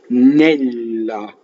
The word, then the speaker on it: Nella: So first word has a double L in it. Nella. Right, and I'm going to do this as it comes to me. And we'll cover all the principles of pronunciation. So nella. How do I make a double L? Is by holding the L in phonation on the with the tip of my tongue on the roof of my mouth, like that, nella.